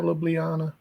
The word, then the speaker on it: Ljubljana: So yeah, just to the east of Ljubljana. Is that how you say it? That is how you say it, yeah, Ljubljana.